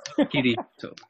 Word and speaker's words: Kirito: It's Kitty Toe. It sounds like kitty and toe. Kirito.